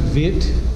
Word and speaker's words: wit: You pronounce it vit.